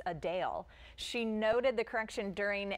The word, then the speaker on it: Adele: While many pronounce it Adele, as we always have, the singer actually says it's Adele.